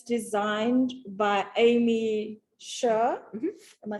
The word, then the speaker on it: Aimee Sher: This is the Nicole shawl, and it's designed by Aimee Sher.